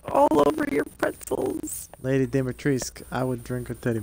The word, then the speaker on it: Dimitrescu: Dimitrescu is not hard to say. Lady Dimitrescu. Dimitrescu. You don't pronounce the U.